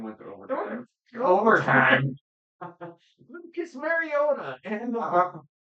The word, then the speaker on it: Mariota: Lucas Mariota and Oh, I don't just say it right. Mariota. Thank you. Mariota. Not Mariota. He's not a Toyota.